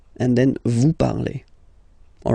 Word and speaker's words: parlez: All right, let's see now for vous, vous parlez. Okay, remember a Z, when you combine them together, you get the sound E. Vous parlez.